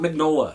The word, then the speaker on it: Mignola: Now, I know some of you are thinking, wait a minute, that says Mignola. No, it's not Mignola, it's Mignola. And I don't know why you pronounce it that way, that's just the way it's pronounced.